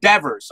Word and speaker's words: Devers: it's Raso it's pronounced Devers okay okay not like life ever is okay excellent okay so it's Devers like Evers awesome thank you my